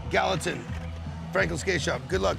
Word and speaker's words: Gallatin: Gallatin. Gallatin.